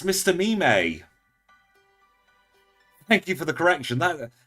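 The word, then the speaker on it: Mr. Mime: pose it's called Blast pose now oh it's Mr meme thank you for the correction that that's why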